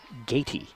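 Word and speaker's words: Gaty: And it's actually Gatey. So you had it spelled right. So the information I have is wrong. Oh. Ooh. It's spelled G-A-T-Y.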